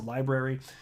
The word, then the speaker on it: LBRY: an entity called library which goes by lbry for short but it's it's pronounced a library and they're the ones